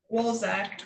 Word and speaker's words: Wszolek: So I contacted it was 2 people, Fred Wolzek, and that is spelled WSZOLEK, or Heather Lombardini.